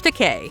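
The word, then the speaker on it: Takei: will stay with me forever number 15 George teay it's true you pronounce it like aulan amok amok time exactly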